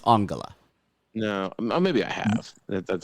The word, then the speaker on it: Angela: would play her oh it's spelled Angela but it's pronounced angala no maybe I have